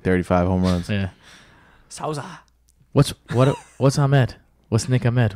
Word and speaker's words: Souza: It's spelled Souza.